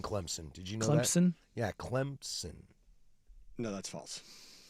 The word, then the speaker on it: Clemson: I don't want to hear about your soft P. Just look at the Wow. Just look at the way it's spelled. There's no P.